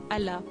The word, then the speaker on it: Allah: camarades de classe or Allah en français on ne prononce pas le H et quand je suis